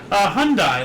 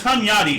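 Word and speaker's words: Hunyadi: So Hyundai, like the car found in the car. Wait, no, it's it's Hunyatti. Sorry, not Hyundai.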